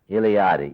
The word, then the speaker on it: Eliade: And that's Mircea, pronounced Mircea, Eliade, Eliade.